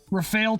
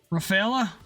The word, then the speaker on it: Rafale: Rafala pronounced Rafala. Rafalea. Wait, there's an the you pronounce No, I'm pretty sure in French we're not supposed to pronounce the E at the end.